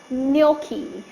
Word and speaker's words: gnocchi: So it's called gnocchi.